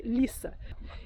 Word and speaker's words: Litha: Os celtas e outros povos, eles denominavam essa festividade de Lita. Pronuncia-se Lissa.